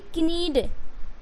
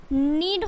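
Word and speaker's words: knead: Okay, तो आपको के क्या करना है, जैसे ही आप के को सब में साइलेंट करोगे तो क्या हो जाएगा, ये एन डबल ई नी हो जाएगा, एन ई ए डी नीड हो जाएगा, एंड एन आई एफ ई नाइफ हो जाएगा।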